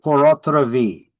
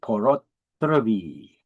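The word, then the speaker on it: pur autre vie: It is not French. I know people argue it's French. That's how it means in French. You pronounce it the same way. No. If it was French, it would be P-O-R. This is Latin. It is P-U-R.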